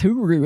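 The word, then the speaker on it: Hyry: It's H-Y-R-Y, but it's Huru. Isn't that wacky?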